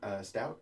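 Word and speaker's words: Stoute: The Tanning of America by Steve Stout, I believe is how you pronounce his name.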